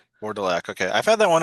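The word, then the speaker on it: Vourdalak: How do you pronounce that title you said again? The Vorelac. Vardelac.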